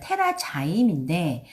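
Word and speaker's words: TerraZyme: 테라자임인데 자임이라는 건 효소란 뜻이기 때문에 한국에 테라자임이라고 못 들어와요. 영어도 테라자임이라고 이렇게 발음 그대로 써놨죠.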